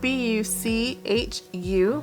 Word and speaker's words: Buchu: It's spelled B-U-C-H-U, Buchu, and then frankincense.